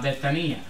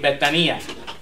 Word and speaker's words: Betania: Ahora va llegando por la mañana a Betania. Betania, disculpa. Mal pronunciación gringa. Ok, Betania.